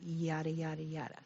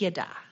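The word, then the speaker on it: ידע: out this word now the way you pronounce it is not yada yada this is yada yeah this is used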